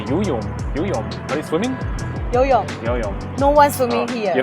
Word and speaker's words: 游泳: Yuyom.